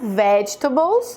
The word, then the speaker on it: vegetables: Então, de novo, vegetables, vegetables, e não a outra que tá errado, que eu não vou nem repetir.